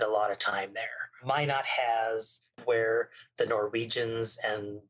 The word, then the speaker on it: Minot: in North Dakota, but M-I-N-O-T. Minot. Okay, see, I would pronounce it the French way, and that would be not at all correct.